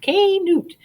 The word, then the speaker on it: Knut: story isn't he cute canute pronounced k newt was born on december